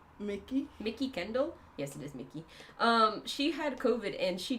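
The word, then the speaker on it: Mikki: Yes, it is Mickey.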